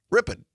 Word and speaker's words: Ripon: And also our great partners to be R P N in Ripon or as the locals say, Ripon.